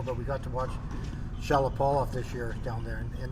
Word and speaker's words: Shapovalov: Shapovalov. Oh. Shapovalov. How do you spell it?